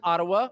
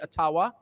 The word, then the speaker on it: Ottawa: taken from you no matter who is in Ottawa or as we say atawa which by the way is the correct pronunciation according to my friends in the ajua